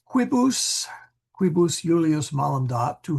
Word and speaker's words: quibus: Wanting to make that a long I for some reason. Quibus instead of quibus. Quibus. No, it's long I.